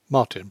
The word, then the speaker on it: Martin: From the very first, Bigourdin decreed that he should be Monsieur Martin, Martin pronounced French fashion, and as Monsieur Martin he introduced him to the Café de l'Univers, and Monsieur Martin he was to all Brantôme.